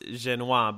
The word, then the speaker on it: Jenious: I know I know your last name is pronounced genoise but we should we should really pronounce it